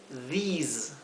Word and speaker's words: these: También these se pronuncia con una I larga, these, y al final es una S como un zumbido, z, ¿sí? No es la S suave.